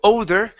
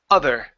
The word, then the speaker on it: other: good this were here instead of 0 older it's aa other other other good show he held